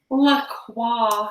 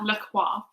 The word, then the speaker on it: La Croix: La Croix. La Croix. Right now that we figured out how to pronounce it.